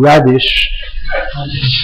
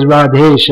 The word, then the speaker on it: Radhesh: So if I call you Radish, but it's just as easy to say as Radhesh as Radish.